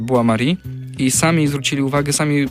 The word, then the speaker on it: Bois-Maury: Pisze się Boys myślnik Maury. Nie zwierz tylko właśnie z ze spinoffu, czyli z Buari i sami zwrócili uwagę, sami powinniście zobaczyć i